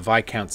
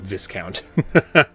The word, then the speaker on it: viscount: we have to kill the baron H the vi Count's invitation I just recently learned this is pronounced VI count not Viscount um dissection kit yo this fools at the